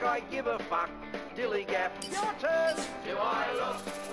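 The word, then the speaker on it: DILLIGAF: And I can relate to their attitude too, in a word, dillygaff. That's spelled D-I-L-L-I-G-A-F, dillygaff.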